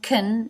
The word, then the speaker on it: can: Can, now here it is pronounced kun, it is reduced, tongue up to make the N, teeth together to make the S.